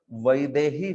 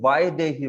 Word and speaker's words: वैदेही: हाँ, जैसे आपने देखा होगा वैदेही शब्द है, तो दक्षिण भारत में वायदेही बोलेंगे वो कई बार, वायदेही।